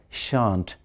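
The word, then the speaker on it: shan't: interesting I think um shall not is pronounced as shant in contracted or short form they will meet the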